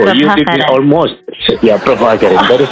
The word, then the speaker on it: Prabhakaran: Yeah, Prabhakaran. That is correct, Prabhakaran. Many people could not pronounce my name, and they even asked me to change my name.